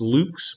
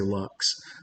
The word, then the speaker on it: Lux: latin word for light i suppose it should be pronounced luke's but we're american so we say lux the purpose of luck's